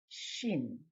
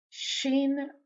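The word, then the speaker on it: שׁ: this is fresh now the next one is shin Shin now there's two forms Sheen always uses a DOT on the upper right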